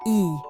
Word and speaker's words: Y: For our grand finale, a town with the shortest name in France, Y, just one letter pronounced E.